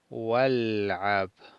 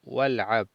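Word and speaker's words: والعب: No pronunciamos el alef de il'ab, de juega, del imperativo. Entonces este no lo pronunciamos, el alef, y decimos ukhruj wal'ab, ukhruj wal'ab, sal y juega.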